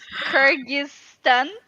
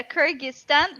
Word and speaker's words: Kyrgyzstan: pronouncing the country i mean i i i pronounce it as uh kajista it's kyrgyzstan or you mean yeah kyrgyzstan but you may call it kyrgyz republic cookies